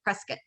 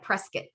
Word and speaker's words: Prescott: supportive employers north of prescott i said it right prescott prescott not prescott so we there is